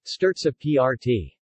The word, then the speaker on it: Strozzapreti: Strozzapreti, Italian pronunciation, Sterza PRT.